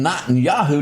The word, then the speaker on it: Netanyahu: Benjamin Netanyahu, did I pronounce Close, Netanyahu.